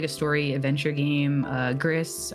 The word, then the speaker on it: Gris: Gris, or I think it's actually pronounced Gris, it's in French.